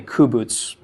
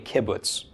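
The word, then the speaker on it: קִבּוּץ: a kibbutz I'm sorry I keep calling it a coup boots because I want the first valve to be right but it is actually a kibbutz kibbutz makes a short you look as input okay some dialects it'll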